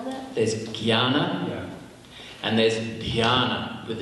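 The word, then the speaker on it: ज्ञान: exception in Sanskrit that you don't actually pronounce it as it's written, and you pronounce it with a gya, jnana.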